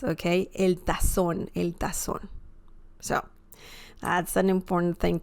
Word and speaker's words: tazón: By the way, the Z sound in Spanish is very similar to the S sound in English, okay? So you wouldn't say el tazón, right?